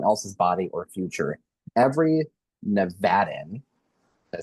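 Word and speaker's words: Nevadan: Every Nevadaan, did I say it right? Good job. Nailed it. Every Nevadaan deserves the ability to plan their family, protect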